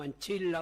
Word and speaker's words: ancilla: ya estereotipada, no es una ancilla o anchilla, utilizando la pronunciación italiana cristiana, no es una ancilla